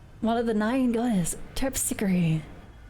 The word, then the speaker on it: Terpsichore: support of course turkey what about the American pronunciation although you think is terpsichore well in these ones they seem to use it with the E on the end the E isn't silent hmm can you actually